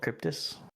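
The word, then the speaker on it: Kryptis: are W demons okay these enemies are the cryptis uh are we sure that that's how they're called cryptus that's a pronunciation yes not craziness yeah yeah okay the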